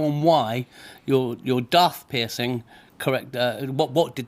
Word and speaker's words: Daith: it's Day thought it's Darth isn't it as in like Darth Vader you're absolutely right yeah